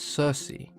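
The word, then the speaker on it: Circe: Greeks as kiriki but as is common with most of the words in ancient Greek that contained a hard k sound when they were latinized and anglicized the hard k sound became a soft C and we now refer to her as Cersei she was a daughter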